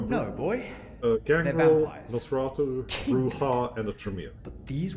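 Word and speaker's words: Brujah: It's pronounced Clan Bruja.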